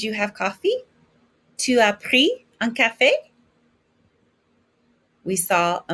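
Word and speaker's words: pris: drink or meals it's irregular past participle is pre don't pronounce the s pre so if i want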